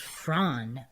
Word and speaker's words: Froon: Lzanne Frun, phonetically pronounced as Fronn with a hard trilled R.